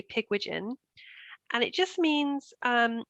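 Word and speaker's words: Pigwidgeon: it wrong for years i was kind of saying pig widgeon and i thought maybe it was welsh or something but it's not you say pigwigen and it just means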